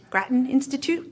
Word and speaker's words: Grattan Institute: the how do you say it Grattan Institute Grattan Institute the right pronunciation really good that's a good read actually